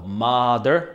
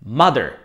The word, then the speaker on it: mother: sister brother son daughter tu vás hneď upozorním na častú chybu vo výslovnosti A to najmä pri slovách m a brother pozor nevyslovuje ich dlho ako mother alebo brother To je taká veľmi Častá chyba u začiatočníkov čiže pozor správne vyslovujeme obyčajné čisté krátke a a dostaneme mother mother a taktiež brother brother ale pozor father vyslovujeme